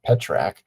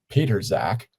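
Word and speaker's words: Pitrzak: First of all, I don't think anyone was pronouncing his name to be pronounced that way. Uh, P I T R Z A K. I was going with um Peter Zack, which sounds like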